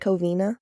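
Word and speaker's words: Covina: the cavine is that how you say it coina yeah coina okay so this one's the Cina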